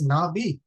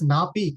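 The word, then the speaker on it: 나비: Why I have pronounced this word as nabi, not as napi? Can you tell me, Yoruba? Why there is no p sound?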